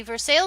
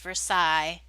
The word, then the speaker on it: Versailles: See, Versailles is how they say it in where I live. There's a town by that name, but I think it's actually pronounced Versailles in in French, which is of course